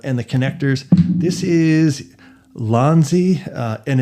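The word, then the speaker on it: Ulanzi: This is Lonzi uh and it's spelled u L A N ZI.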